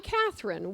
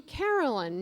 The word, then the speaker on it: Cathryn: I'm Cathryn. Well, many people call me Carolyn. Now, they do that because my name is spelled with an R-Y-N at the end.